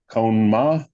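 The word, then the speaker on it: Kohn-Ma: do the same thing I actually wrote it out phonetically cone ma is that right yeah it's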